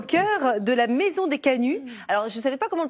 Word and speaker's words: Canut: à Lyon au cœur de la maison des Canuts alors je savais pas comment prononcer on dit bien Canut hein c'est ça